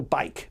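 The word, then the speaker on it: Byck: that you say that Samuel Bike by c k and what did he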